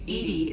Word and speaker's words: EDI: Why are you named Edie is the phonetic pronunciation of...